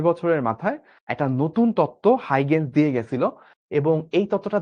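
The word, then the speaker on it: Huygens: সেই তত্ত্বটা হচ্ছে তরঙ্গ তত্ত্ব এবং এটা দিয়ে গেছিল হচ্ছে হাইগেন্স। এখানে দন্তস্যটা কিন্তু অবশ্যই উচ্চারণ করতে হবে।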